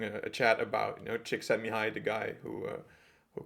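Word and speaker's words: Csíkszentmihályi: but yeah that's quite it's quite easy once you get the trick but chick said chick sent me that's it but uh i thought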